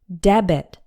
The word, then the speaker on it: debit: pay the bill later debit has two syllables and we pronounce the B debit a debit card now